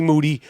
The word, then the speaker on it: Moody: to here with Moody whose last name rhymes with duty has to say let's